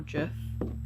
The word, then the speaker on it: GIF: don't care if you say it's gif or jeff i'm gonna say it the way i want to say it that's true i guess i said that the wrong way around yeah wait what jeff is the one that's correct right well drift